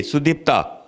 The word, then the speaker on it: Sudipta: Sudipta.